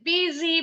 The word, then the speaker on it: busy: something that keeps as busy while waiting yes busy betul bunyi s-nya Z disambung betul great job no Sil